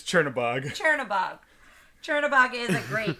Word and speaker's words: Chernabog: I do love the Chernberg. How do you say? Chernberg? No, that's the mayor of Schenectady. How do you say his name? That's Chernabog.